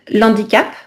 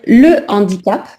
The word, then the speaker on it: handicap: Alors, le numéro 7, on ne va pas dire l'handicap. J'ai vu que vous avez mis H muet souvent dans le chat. On va dire le handicap, d'accord?